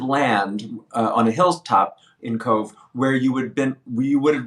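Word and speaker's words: Cobh: Titanic was Queenstown, Now Cove. Queenstown, Yeah. which is now called Cove. Kobh is how it's spelled.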